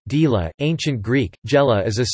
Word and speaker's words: Gela: Gela, Italian pronunciation, Gela, Ancient Greek, Gela is a city and commune